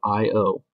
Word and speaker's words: I/O: This is called I/O, pronounced like the letters I/O, because it deals with input and output of the program.